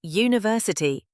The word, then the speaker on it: university: Even though university begins with the letter U, we say university. That's a Y sound, not a vowel sound, so we say a university.